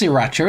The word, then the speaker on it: sriracha: Yeah, it's pronounced sriracha, isn't it? But it throws me off because there's usually an R after the first S. So it's like you want to say sriracha, but it's actually sriracha.